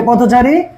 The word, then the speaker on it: পথচারী: তাহলে পথচারী দেখো, পথচারী, ওই যে কথোপকথন বানান ছিল না, কথ কথ কথ প কথন, ঠিক একইভাবে এটা হচ্ছে এই যে পথচারী, প ওই যে ওকারান্ত, থ ওকার, ওকারান্ত বলেছে, তাহলে পথ, আর হচ্ছে চারি।